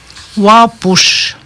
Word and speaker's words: Wapush: Wapush. Lièvre. Le U, c'est pour accentuer sur le U. Le U, il se prononce O-U. Wa.